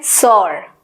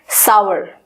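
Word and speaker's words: sour: Next है आपका किस तरीके से हम इसको प्रोनाउंस करते हैं, सॉर, सॉर यानी खट्टा, सॉर। लेकिन इसकी एक्चुअल प्रोनाउंसिएशन है सावर, सावर, सावर।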